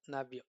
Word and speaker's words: Navio: So how do I pronounce? I put it here. Okay. So Navio.